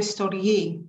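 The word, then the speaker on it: storge: children or a puppy you'll know story yi it rhymes with bee it sits at kitchen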